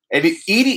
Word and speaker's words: Edie: Okay, so everyone who sees Edie Murphy got a great channel. Her name is pronounced Edie.